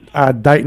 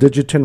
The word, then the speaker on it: Dighton: Dighton Rehoboth. He's called Digitin Rehoboth. But he's pronouncing it. Master himself. He was pronouncing it correct.